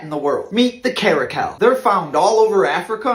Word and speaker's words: caracal: amazing I never know about the car the caracal oh okay crazy cat did I say it